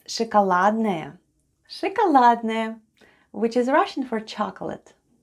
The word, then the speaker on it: шоколадное: at the end of ШОКОЛАДНОЕ /shakaladnaye/. Let's spell the word ШОКОЛАДНОЕ /shakaladnaye/. The first sound is /sh/; then goes O /o/, it's unstressed and is pronounced as /a/.